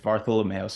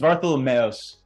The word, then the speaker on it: Vartholomeos: It's Vartholomeos. It's Vartholomeos."